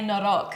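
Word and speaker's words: noroc: We say norok. Norok.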